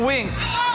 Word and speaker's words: VVINK: Ang ah ang wink. Dalawang letter V iyan. Dalawang letter V pero it's pronounced as wink.